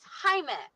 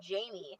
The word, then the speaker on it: Jaime: no he told her my name is Jaime yes Jaime is not that hard to pronounce she kept calling him Jamie like that really irritated me I was like he didn't write it down you know because Jaime is spelled like Jamie yeah he didn't write